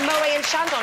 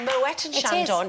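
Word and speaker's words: Moët & Chandon: not CL exactly and it's actually not called Mo and Shandon it's called Moet and Shandon yes indeed it is silent so anyway never mind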